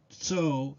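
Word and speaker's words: צוֹא: The last Hebrew word we will discuss in this video is Strong's number 6674, pronounced so and spelled T-S-O.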